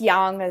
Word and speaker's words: Yang: you want to angl it's Yang if you want to know how to pronounce the Chinese name correctly he talked about Universal